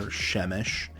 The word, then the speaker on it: shemesh: This is a segelit, so it is pronounced on the first letter, shemesh.